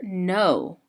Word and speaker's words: know: So this is the word no that's spelled with a K. They're not talking about the word N-O. That's like this word, like no, the opposite of yes. This no has the K-N at the beginning that says N.